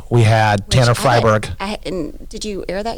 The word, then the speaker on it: Freiberg: say we had Tanner freiberg and did you air that yet with Josh oh Fryeburg f-r-e-i the E is silent pronounced I yeah anyway okay but